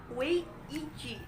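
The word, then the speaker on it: 危机: Dalam bahasa Cina, krisis diucapkan dengan wei ji dan mempunyai dua arti, yaitu bahaya dan peluang.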